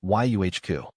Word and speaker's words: yucca: generally it's pronounced as yuhq. The emphasis is usually placed on the first syllable with a short uh sound followed by a slightly longer coup sound.